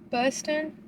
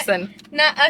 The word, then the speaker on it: bussin': What's it called? Bustin'? How do you say it? Bustin'. Bustin'? I thought it was bussin'. Okay, now you got me knowing not how to say it. It's bussin'. Bussin'.